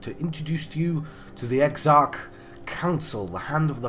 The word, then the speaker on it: Exarch: I'm in Elador Fields, and I've got a quest called the Exarch Council. That's how you pronounce that, John.